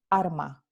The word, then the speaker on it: alma: infilder vibrante simple entonces en el andaluz la palabra alma watchmen soul se pronuncia arma arma arma de farmers